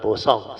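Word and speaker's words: boosong: So my daughter used the word bosong. So we write down. B-O-O-S-O-N-G. So this one, bosong. B-O ni brother song. So this one in inverted comma. Bosong. Don't go pronounce like brother song.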